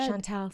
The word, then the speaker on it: Chantel: That's how you pronounce it, right, Shantel? I should have checked that before we started this. No, you're good. You're good, Shantel.